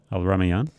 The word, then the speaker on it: Al-Rumayyan: Al-Rumayyan.